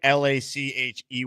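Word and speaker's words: Lachey: I don't know how to pronounce his last name. It's it's Luke L a c h e y leaky leaky lackey.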